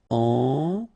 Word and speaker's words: ennuyeux: Okay, final X not pronounced, and then the same concept. Ennuyeux.